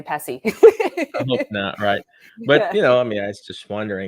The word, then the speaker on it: PESI: company name wrong but literally we always just say pessi but you know i